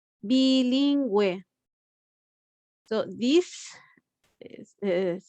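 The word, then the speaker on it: bilingüe: have the g and if you see we just add two dots on the top of the u that is for pronouncing that you because here we are going to pronounce bilingue so this is the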